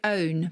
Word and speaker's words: pwn: So famously, there's a word which is pronounced like own, but it's spelled PWN.